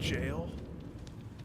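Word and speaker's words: gaol: Is it Old English that they spell it Gale? No, but seriously. What are the origins of that pronunciation for jail? Since when does a G make a J sound? That's not how sounds work.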